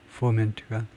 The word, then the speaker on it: foment: 앞에 하여튼 이게 액센트 표시가 foment 두 번째 음절에 액센트가 있다는 거죠. 그걸 좀 확인을 좀 해보면요. foment 두 번째 음절에 액센트를 줘야 됩니다.